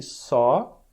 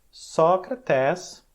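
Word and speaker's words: Σωκράτης: Você vai falar um som longo aqui, Sócrates. Faz sentido? Sócrates. Então essa é a pronúncia, né? O nome que nós chamamos de Sócrates, eles chamavam Sócrates. Tem 2 vezes vogal longa.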